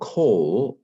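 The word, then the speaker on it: כל: or because of this so coal this is a kamat Kat which is so normally this little T here this little T of mine we normally think of it as a as a long a but actually in this situation it's a short o who knew um the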